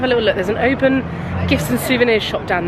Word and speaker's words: Oban: I just need you all to know that I apologise because I've just learnt it's pronounced Oban, not Oban. Oban.